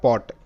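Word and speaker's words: pot: অ sound যেমন শব্দ একটা পি ও টি যেটার উচ্চারণটা পট কিভাবে অসা সাউন্ড দিয়ে এটা পট হলো দেখো পি এর জন্য পি তে প হয় আমরা জানি ও এর শর্ট সাউন্ড অ মানে এখানে অসেবে উচ্চারিত তাহলে প অ সমান সমান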